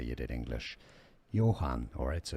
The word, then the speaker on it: Johann: Johann, alright, so it's not Johann or Johann. Alright, just replace the J with a Y.